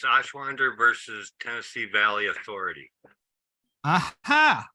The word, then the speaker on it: Ashwander: can get anything done ashwander versus Tennessee Valley Authority it's spelled a s h like ash from a fireplace Wonder w-a-n-d-e-r like wander through the desert Ash wonder versus Tennessee Valley Authority